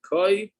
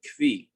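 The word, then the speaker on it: כוי: Is it koi or is it kvi? So the art scroll pronounces it koi.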